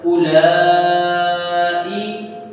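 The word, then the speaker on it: أُولَٰئِ: ठीक है, हमजा को पढ़ेंगे, वाव को नहीं पढ़ना, वाव को रहने देना, वाव में छेड़ना भी नहीं। आगे है लाम, लाम पर खड़ा ज़बर भी है और मादी भी, इसे थोड़ा लंबा करेंगे। किस तरह है उला, उला। आगे हमजा के नीचे जेर है, अब हम इसको हमने हमजा पढ़ना, किस तरह है उलाई, यहाँ तक है।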